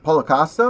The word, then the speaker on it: Paulo Costa: Is that how I pronounce it? Costa. Paulo Costa.